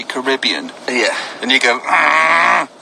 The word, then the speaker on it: Caribbean: But so, I got to the Caribbean, and I asked the people from the Caribbean how they pronounce it, and they say Caribbean.